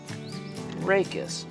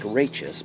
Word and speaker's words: rachis: And then this central stalk here is called a rachis. Rachis. It looks like rachis, but we pronounce it rachis.